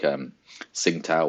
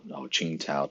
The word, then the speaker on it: Tsingtao: You've got like Tsingtao or Qingtao, depends where you go. When I went China, everyone would tell me it was Tsingtao, but it depends where you are in the pronunciation.